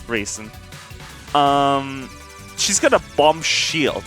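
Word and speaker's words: Reisen: I'm probably also mispronouncing her name really horrible. Raisin. Yeah, Raisin. Not Ryzen, Raisin.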